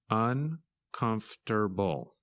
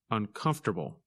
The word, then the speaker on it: uncomfortable: and its opposite comfortable when you say this word you do not pronounce some of the letters that you see in the written word in this lesson you